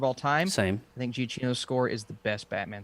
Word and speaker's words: Giacchino: Giacchino. Giacchino.